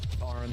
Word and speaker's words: Tauren: Is it Tauren or Torn? Tarn.